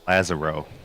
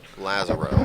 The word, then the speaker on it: Lazarro: a match here between abel ferrer and justin lazzaro i actually believe it's pronounced lazaro lazaro i was just speaking with him and good